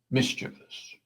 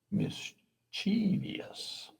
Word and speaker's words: mischievous: I mean, I used to say mischievous. Adding an extra syllable. Uh, turns out the correct pronunciation is mischievous. Only three syllables, not four. So the the extra e before the us I felt so